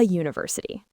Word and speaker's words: university: It starts with the letter U, a vowel, but we say a university because the first sound is U. Like the word U. That Y sound is a consonant sound.